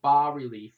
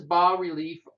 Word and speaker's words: bas-relief: And what bas-relief art, you don't pronounce the S, just so you know, it's kind of raised,